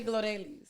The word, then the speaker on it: Glorelys: yes sorry so you my first name you spell it g-l-o-r-e-l-y-s as you guys see right here in spotify apple podcast youtube absolutely go ahead but you say gloria oh glorious what did